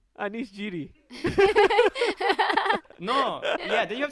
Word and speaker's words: Giri: Then I have to call you Jiri. Anish Giri.